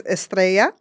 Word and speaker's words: Estrella: people saying my name, but my name is Estrea. Estrea.